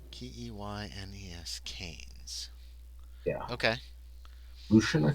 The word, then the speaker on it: Keynes: It's spelled It's spelled ke y n s but it's pronounced canes. Keynes can.